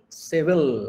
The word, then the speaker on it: Seville: there is a town known as seville civil as they pronounce it i've been there and